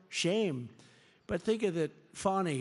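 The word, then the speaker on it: Fani: they have no shame but think of it fonnie it's F ni I but they pronounce it fonny how do you could would if you had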